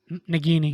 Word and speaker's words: Nagini: Nagini.